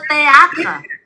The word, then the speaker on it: théâtre: Mình đọc là T thôi.